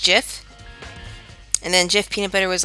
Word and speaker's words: Jif: guy who created gifts I said it was actually pronounced jiff and then Jeff peanutbutter